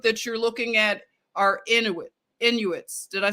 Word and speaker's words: Inuit: Okay, so it's It's an area that is mysterious in Inuit. So you would say that this people group that you're looking at are Inuits.